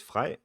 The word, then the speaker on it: Frey: Why do you pronounce it Frey without an R? Yeah, well, in Danish, his name is Frey.